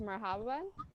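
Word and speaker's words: مرحبا: And the first one is hello, which is pronounced marhaban.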